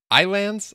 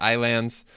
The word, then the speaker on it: Ylands: deed up here and today we're getting into some islands I think it's how you say it it's spelt Y lands but I've heard the videos the trailers whatever they all pronounce it islands and yes today is